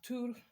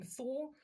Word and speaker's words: Thor: living amongst the humans like tur we call him Thor that tour is the correct pronunciation and then you always